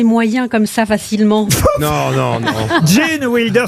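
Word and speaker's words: Gene Wilder: Jane Wilder, ça s'écrit G-E-N-E, évidemment. Jane. Comme Jane Kelly, vous voyez.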